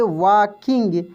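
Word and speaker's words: walking: वॉकिंग, WALKI, देखिए L silent रहेगा, इसको हम लोग पढ़ेंगे वॉकिंग।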